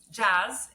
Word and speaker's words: Jas: sure that our listeners do too well um jazz is you pronounced it correctly jazz is an alcohol-free beverage